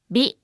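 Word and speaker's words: ビ: Hi with a dakten is pronounced as bi, hi, bi, hi, bi.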